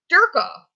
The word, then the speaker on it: Dirkoff: And so Dwayne called his brother Dirkoff because it rhymes with jerk off, and he thought that was the better you had to nickname.